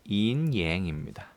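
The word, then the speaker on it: yin-yang: 그 다음에 양은 해 일만 해가지고 음양이라고 하고 참고로 이 음양이란 표현은 영어로도 인양입니다. 중국어 발음을 그대로 따온 경우라고 할 수 있어요.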